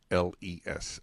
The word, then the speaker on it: Knowles: Michael Knowles, Knowles. Okay, so he just does like the Beyonce.